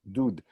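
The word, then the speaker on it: דוד: But this is really one of those times where the dot next to the vav makes it an oo sound. Dud.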